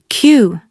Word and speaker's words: queue: The correct pronunciation is simply queue. Just one syllable. That's it. Listen carefully. We had to wait in a long queue. Now, repeat. queue Fantastic.